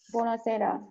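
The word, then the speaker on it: buonasera: বনঝর্ণর উচ্চারণ কি? Good morning. Good morning. আচ্ছা তারপরে আসি। কি হবে? পরেরটা বোনাসেরা বনাসেরা বনাসেরা মানে কি গুড গুড ইভনিং ইভিনিং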